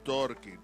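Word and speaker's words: Torky: Or maybe we have the pronunciation wrong. It's Turkey.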